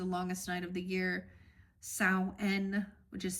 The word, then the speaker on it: Samhain: In the ancient Celts used to call the time of the longest night of the year Samhain, which is spelled S-A-M-H-A-N.